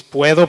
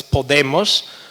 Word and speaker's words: puedo: conjugate the verb poder, you have to change O to U. UE, only when the syllable is accentuated, actually. So it's puedo, puedes, puede, but it's podemos, because when O is not stressed, it doesn't change to we. So podemos, podéis, and then pueden.